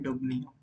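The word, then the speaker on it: Dubnium: है वो है हमारा डबनियम, डबनियम, हम इसे प्रोनाउंस कर सकते हैं डबनियम।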